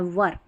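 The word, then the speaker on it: were: डब्ल्यू ई आर ई को वेयर नहीं पढ़ना है वर ठीक है वर जो होता है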